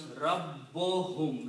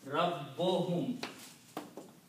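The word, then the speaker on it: رَبُّهُمْ: And when we combine, then one dhamma on this is not pronounced. It becomes Rabbohum, like Ajrohum. Rabbohum. So this becomes Rabbohum. One dhamma only on Ba instead of two.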